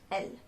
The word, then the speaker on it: elles: There is a S at the end of the word, but we do not pronounce that S. It's just L.